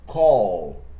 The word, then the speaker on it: call: A letra L é chamada de The Dark L porque ela é pronunciada aqui na garganta. É um som meio aditongado, então existe uma vibração da corda vocal. Call. Se eu prolongar o L, você consegue sentir essa vibração.